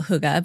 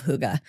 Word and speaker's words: Hygge: I think they have a little more like huh going on, like Hygge, but what do I know?